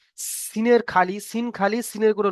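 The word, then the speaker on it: سين: এটা হালকা আওয়াজ সিন, এটা মোটা আওয়াজ শিন। ঠিক আছে, তাহলে এই দুটো আমাদের ক্লিয়ার। পার্থক্য কিসের? পার্থক্য হচ্ছে নোক্তার। সি- সিনের খালি, সিন খালি, সিনের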